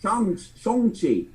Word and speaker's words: Shang-Chi: "Hang on, motherfuckers, you've been getting your own character's name wrong. It's Shang-Chi.